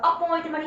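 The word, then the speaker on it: appointment: ऐसी है अपॉइंटमेंट, double P है तो प का ही साउंड दो, अपॉइंटमेंट। ये लेकिन ये है डबल पी, पी का मतलब ये होता है कि आप प पे थोड़ा सा दबाव डालिए, अपॉइंटमेंट, अपॉइंटमेंट नहीं, अपॉइंटमेंट बोलने का।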